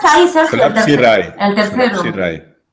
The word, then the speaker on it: Solapsi-Rai: Solapsi-Rai.